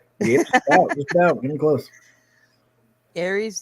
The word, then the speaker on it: Ares: Aries, the apex, rhymes with Marys and gay sex.